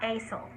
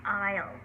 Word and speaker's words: aisle: spelled a-i-s-l-e um and the s is silent it's not acell it's isle not i'll either but